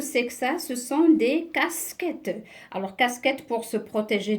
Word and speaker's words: casquettes: à quatre casquettes alors ici j'ai la lettre e s ici on l'a bien prononcé leur s casquette mais à la fin c'est le pluriel est ce du pluriel on l'a pas prononcée alors je passe à